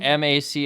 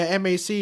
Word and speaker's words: M.A.C: Yeah, M.A.C. is Mac. But it looks like M.A.C. But for me, it's just M.A.C. Everyone's like Mac. Mac. It's pronounced as M.A.C. M.A.C. is just an acronym.